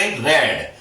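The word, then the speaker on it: read: रेड। देखो बच्चों, रेड। आर इ ए डी। इसको हम रीड पढ़ते हैं। फर्स्ट फॉर्म में। Second form रेड। Third form रेड। परंतु स्पेलिंग यही होती है।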